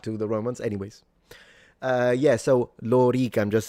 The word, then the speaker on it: lorica: Then he said the sword, the armor would be lorica segmentata. So both the O and the E are long. There he is. Lorica. Lorica. So it's not lorica.